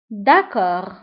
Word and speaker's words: d'accord: d'accord. d'accord. d'accord. d'accord نكتبها بالد في آخر الكلمة ولكن لا ننطقها.